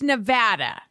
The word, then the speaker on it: Nevada: or las vegas it's nevada like sad for the final time